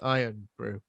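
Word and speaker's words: Irn-Bru: um yeah i mean it's pronounced iron brew i uh bruh now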